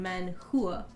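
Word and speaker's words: manhua: man Hua is Korean man Hua is Chinese but h-u-a is pronounced Hua still oh okay then that's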